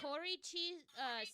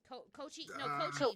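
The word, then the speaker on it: Kōichi: Koriichi Sakibara. Did I pronounce that right? Koichi Sakibara.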